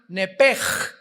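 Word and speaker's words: נֶפֶשׁ: En Génesis 35 dice el versículo 18, "Y aconteció que al salírsele el nepesh, apúntalo ahí, el alma en el hebreo es nepesh, se pronuncia nepej.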